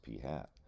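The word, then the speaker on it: p̂: It's it's pronounced P hat.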